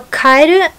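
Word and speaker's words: 蛙: So Kaeru means frog, and Kaeru, which might sound the same to some people, but it has a different emphasis on a different syllable in Japanese.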